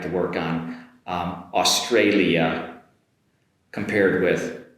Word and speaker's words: Australia: to work on um Australia compared with Austria. Australia Austria okay? Beginning of course is the same but we've got an “alia” compared in Austria.